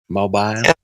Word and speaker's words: Mobile: but whatever all right what city are you mobile mobile I gotta say it proper ly oh